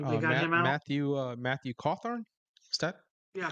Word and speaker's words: Cawthorn: Matthew Cawthorn. Is that Yeah, how you Cawthorn, was pronounce it?